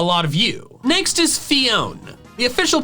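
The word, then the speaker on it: Phione: what Cleone were, so I've called it Fiona for years because its name looks like phone with an extra letter. Part of me thinks I should work on correcting my pronunciation and changing it to Fiona since that clearly makes more sense.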